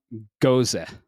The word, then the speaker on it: Gose: Today, I'm actually drinking a guava lime gose, and that's how you pronounce it.